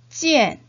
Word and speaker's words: 见: 음모구를 이엔으로 발음을 해야 되니까 사성의 찌엔이라고 발음을 하셔야 되겠네요. 원어민 선생님의 발음을 잘 듣고 눈으로 익히면서 3번 따라 읽어보도록 하겠습니다. 见见 찌엔, 찌엔, 찌엔.